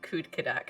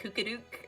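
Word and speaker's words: Kudkudak: that your pronunciation of kud kadak i always want to call him like kooka-dook like that's not his name but that's that's where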